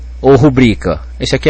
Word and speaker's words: rubrica: interessante pra gente analisar como é que eu vou saber por exemplo aqui se é rúbrica ou rubrica se fosse rúbrica ela seria pró paroxitona concorda rubrica teria que ter acento mas a gente vê escrito por aí sem acento nos textos de quem sabe escrever então se as pessoas